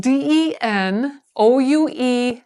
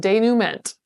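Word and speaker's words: dénouement: So it's spelled Denouement. In my world, I would have thought it said denouement. But it's French, so we pronounce it denouement.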